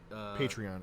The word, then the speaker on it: Patreon: Because it's patron, so it should be Patreon.